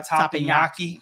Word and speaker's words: Teppanyaki: And they were Rudy Sea Grill and Banzai Teppanyaki.